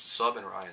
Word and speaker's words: Subryan: Don't say my last name like reffed. It's Sub and Ryan. That's how you say it.